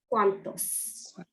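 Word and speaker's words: cuántos: chat here we go it has an accent on the a cuantos cuantos so that means how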